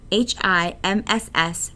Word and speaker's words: HIMSS: information management system society HIMSS pronounced hims proposed a five stage